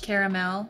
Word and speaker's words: caramel: in it that matters caramel it's caramel I know some people say caramel you might be watching us saying caramel what if I say caramel caramel that's fine too but just just pronounce the second a it's it's there it's